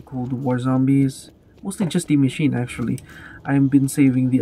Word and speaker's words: Die Maschine: 90% has been to Die Maschine. yes, the American pronunciation, not the German one.